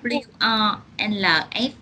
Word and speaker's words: wolf: W-O-L-F đọc sao yeah. không? Wolf. Wolf. Wolf. Wolf. Wolf. Wolf. Này là phát âm U. Đúng rồi, đều là âm U ngắn hết đấy.